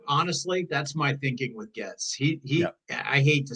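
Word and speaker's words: Gaetz: Matt gets get gets I think his name is pronounced gets yeah it's gets he was nominated for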